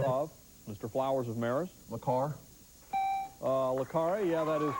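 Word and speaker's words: Le Carré: Le Carre. Le Carre, yeah, that is correct. Le Carre is the correct pronunciation.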